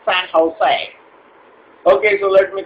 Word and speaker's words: San Jose: that for you that's s a n j o s e all right so s a n j o s e okay San Jose it's not San joose it's San Jose okay so let me